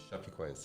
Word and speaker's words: Chapecoense: Chapecoense. Chapeau. Okay. Is that correct? The Yes.